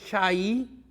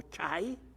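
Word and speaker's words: חי: Y luego el velo que dividía el lugar santo del lugar santísimo, su nombre en hebreo es Shai o Chai, o también Hai, se pronuncia de diferentes maneras, y significa vida.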